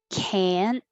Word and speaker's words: can't: a weird word and can't and can we don't say the t and can't so you won't hear it but you will hear the vowel ah you can't teach a